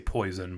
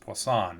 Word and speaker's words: Poisson: involving Poisson probability distributions I always want to say poison but is pronounced Poisson in French so so Poisson probability